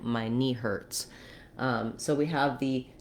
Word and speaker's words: Hertz: the tense er sound letter t says a true t here hurts i do let some air out and the letter z says the s sound um in german i believe this was probably from german it would be more like herz they would have more of an air diphthong there but the z says s because in german letter z says this sound so um if that